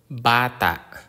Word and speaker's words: bata: us have this example the consonant B like the b in Bat example bata bata abata is a child